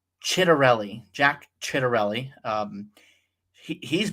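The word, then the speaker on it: Ciattarelli: So then we look at the So Mikey Cheryl is crushing um Jack I think it's pronounced Let me see how exactly it's pronounced. Chitterelli.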